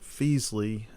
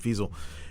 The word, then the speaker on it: Feasel: Melanie Goldie, she plays the female character, and then Brent Feasley, Feasel. I'm sorry, I think I said his name wrong. Brent Feasel is the poor sap that gets snookered by the devil.